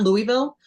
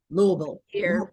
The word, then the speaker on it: Louisville: So people know that there's a way Louisville pronounce it. It's almost one I say it's one and a half syllables.